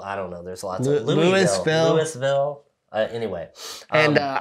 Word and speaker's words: Louisville: do pronounce it what Louisville like you got like you got marbles in your mouth this is somewhere Louisville right um but uh